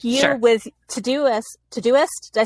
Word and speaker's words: Todoist: with Todoist, did I say it right? Yeah. Yeah, with Todoist, that app, yes.